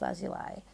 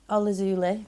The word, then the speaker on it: lazuli: and pile number 3, the lapis lazuli, or lazuli, depending how you say it. My mum says lazuli though, so I say that too.